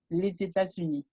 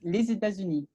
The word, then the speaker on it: les États-Unis: Y bueno, recuerden que cuando hagamos enlace entre una S y una vocal, vamos a pronunciar esa S bien sonora, una Z. Por ejemplo, los Estados Unidos es les États-Unis.